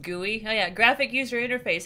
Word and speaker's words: GUI: happy that you guys are liking this it's pronounced gui oh yeah graphic user interface how you doing